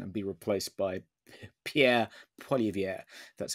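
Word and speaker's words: Poilievre: next general election and be replaced by Pierre poier that's how you pronounce it he seems a lot better and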